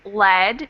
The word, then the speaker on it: lead: to the ranch what happens to that vowel sound lead and Lead yeah lead a short vowel sound and Lead e long vowel sound so the vowel sound